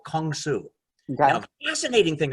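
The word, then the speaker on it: 공수: Kung Su is the Korean pronunciation of karate.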